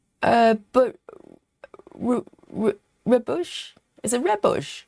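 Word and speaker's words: rooibos: And I think it's just a it's taken from the sound of red bush, right?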